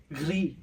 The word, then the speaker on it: gris: Masculine form, gris. Gris. Feminine form, gris.